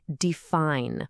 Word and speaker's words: define: We all say define with that long i sound, but add an ending and it becomes definition. The i is totally gone, and it's replaced by a short i sound.